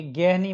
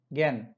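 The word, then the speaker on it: gehen: Next अपने पास ज्ञान, तो ये गेह नहीं बोला जाएगा, गेहन नहीं बोला जाएगा, ज्ञान। एच फर्स्ट प्लेस पे नहीं है इसलिए प्रोनाउंस नहीं होगा। ओके, एच में ये ध्यान रखना आप।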